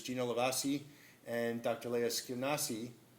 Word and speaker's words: Skenazy: Leah Skenazy. Skenazy, I pronounced that correctly? Almost? All right. Skenazy, okay.